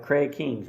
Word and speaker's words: Craig King: His name is, and let me make sure I say it right, Craig Kings, right?